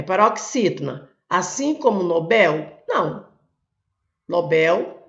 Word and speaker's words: Nobel: Nobel é aqui, ó, sílaba forte. É uma oxítona.